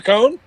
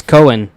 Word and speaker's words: Cohen: has a cone marcia cone yeah but don't say it like that that's weird um why because it's cohen uh but apparently she